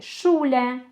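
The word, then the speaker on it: Schule: Буквосполучення сцг читається в німецькій мові як ша. Буква Ша українська, наприклад, в слові шуле, шне, шн.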